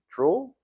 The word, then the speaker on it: Truell: Troll.